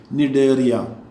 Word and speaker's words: Cnidaria: C is silent here. Cnidaria.